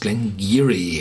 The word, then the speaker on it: Glen Garioch: glenar and it's pronounced gleni it's a local dialect um the bottle was